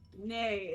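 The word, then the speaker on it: nee: Nay is how you say no in Dutch.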